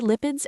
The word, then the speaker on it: lipid: Now let's look at some important terms related to lipids and their pronunciation. First, lipid. It's pronounced lip-id with a short I sound and the stress on lip.